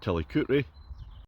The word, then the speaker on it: Tillicoultry: I'm in Tillicoultry, which is spelt Tillicoultry but pronounced Tillicoultry.